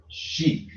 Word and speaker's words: Shek: Shek is the Moorish word for a master, adept, often called Shek, pronounced sheik. Oh, so sheik.